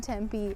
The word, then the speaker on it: Tempe: heard of Tempe or you thought it was pronounced tempeh it's not it's Tempe don't ask me why